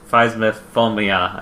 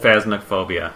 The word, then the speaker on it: Phasmophobia: Phasmophobia. I can't pronounce it.